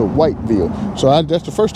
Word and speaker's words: Whiteville: part of the country, the way they say it is wo and and people kind of uh gest at it that they won't we don't pronounce and enunciate the words that we we call it wavvel as opposed to whiteville.